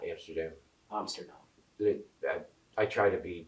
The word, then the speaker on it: Amsterdam: know, I felt a weird pull going to Amsterdam, and that's actually how they pronounce it. It's not Amsterdam.